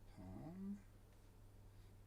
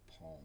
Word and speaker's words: palm: right so there's the palm yes i say palm with an l everyone complains about that